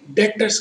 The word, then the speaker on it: debtors: आप एक third column बनाएंगे डेटर्स का।